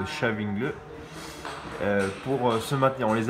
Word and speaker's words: Stavanger: Donc les 8e, ça se prononce Stavanger, pour se maintenir.